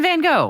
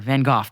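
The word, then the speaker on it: Van Gogh: sorry but what yes Vincent Van go or vanoff depending on how you want to pronounce it painter of many gorgeous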